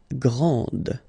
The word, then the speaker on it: grand: exactly the same thing this final is not pronounced okay so GR and